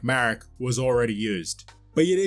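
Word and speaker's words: Maruk: Marek, spelled M-A-R-U-K, but I would pronounce it the same way I would pronounce Galen Marek's name, spelled M-A-R-E-K.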